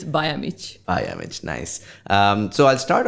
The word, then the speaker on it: Bajamic: In reality, it's Bajamic.